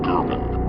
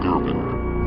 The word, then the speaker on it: Gervin: Now you see the importance of why the elites put out those comparisons, but the last name Gervin rhymes with Irving, which is a teammate's last name that KD once played with on the Brooklyn Nets, who is Kyrie Irving.